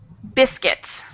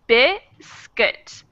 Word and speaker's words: biscuit: The word biscuit has two vowels in it. The first vowel sound is emphasized. It's the stressed syllable, biscuit. So that second vowel sound really becomes an sound. Biscuit, biscuit.